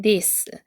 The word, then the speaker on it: this: 보면 이것은 이렇 으니까 this 치 돼지꼬리 발음이라 현에 밀고 드 발음 하시면 돼요 this 그다음에 이다라고 했으니까이라고 써야